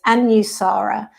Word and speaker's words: Anusara: style of yoga is how do you pronounce it so there you go it's anusara um depending on your accents and things it might get pronounced a little bit differently but anusara means to